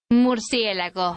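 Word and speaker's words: Murciélago: Mercielago.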